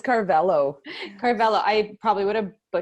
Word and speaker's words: Carvalho: It's Carvalho. Carvalho. I probably would have butchered that anyways.